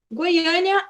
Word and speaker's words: Goiânia: palavras Então vamos lá Goiânia é única cidade que gostaria de morar Goiânia a gente tem essa entonação a sílaba tônica que é a sílaba mais forte no a E ali a gente